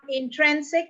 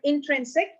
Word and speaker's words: intrinsic: Not intrinsic, but intrinsic, and that is option B, intrinsic.